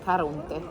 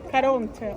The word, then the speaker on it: Caronte: Ma ci sono diverse pronunce, Charon, Charon, I say in Charon, Italian language, Caronte. Caronte.